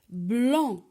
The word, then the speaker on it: blanc: Parfois, à la fin du mot, la lettre C ne se prononce pas. Comme par exemple le tronc, blanc.